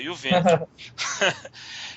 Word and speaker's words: Juventus: Eu tenho que falar Juventus porque o Cleiton gosta da pronúncia correta, Juventus.